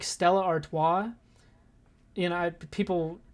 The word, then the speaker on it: Stella Artois: But I really like Stella Artois. You know, people... That's actually how you say it. You see the Stella commercials. It's actually pronounced Stella Artois.